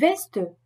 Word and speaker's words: Weste: En toute autre situation, SP et ST se prononcent comme un S français suivi d'un P ou d'un T, comme hospitalier. Die Weste, le gilet.